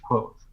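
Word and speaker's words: Kvothe: the first book he says that it's bounced quote but god damn is that a epic of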